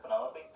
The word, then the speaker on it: Penelope: Penelope? Officially, yes, but I never can be bothered with all 4 syllables of it.